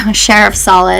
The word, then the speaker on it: Sharafsaleh: Sharafsaleh. I usually tell my patients the way to pronounce that sounds like the sheriff's office and then salad without a D. So Sharafsaleh, it's close enough.